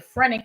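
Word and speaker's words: phrenic: We talked about the nerve which is called the frenic nerve and that begins with the P. Okay, the P is silent that it's in the shoulder and it's directly connected to the gallbladder.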